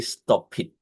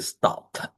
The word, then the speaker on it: stopped: We don't say stop it. Okay. So we're gonna say stopped.